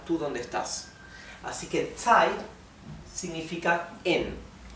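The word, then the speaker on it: 在: Así que tsai significa en. Vean cómo Z se pronuncia ts, ts.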